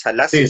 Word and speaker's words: Selassie: ¿Te estoy pronunciando bien tu apellido? Sí, Salassi, se las...